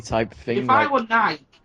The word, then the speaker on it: Nike: If I were Nike, Nike, it's got two syllables on it, I've got to be professional.